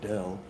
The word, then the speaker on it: Dale: Dale was another one. They pronounce it Dell.